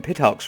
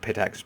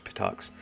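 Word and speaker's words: Pitax: so you come from pitt hocks right that is how it's pronounced it's not pit axes patox uh tell me about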